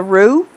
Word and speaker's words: roux: seasonings, and the most important part is the roux, and that is spelled R-O-U-X for those of you who are not familiar with it.